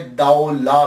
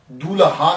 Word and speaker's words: Daulah: ये लफ्ज प्रोनाउंसिएशन दाऊ ला है। दूल्हा नहीं है। ये सबसे पहले याद रख लीजिएगा कि ये दाऊ ला है। दाल ज़बर वा साकिन दाऊ और लाम अलिफ ला है।